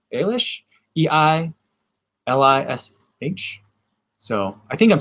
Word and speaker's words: Eilish: and mark says oh i've been saying billy eilish i think that's it's eilish is the right way to say it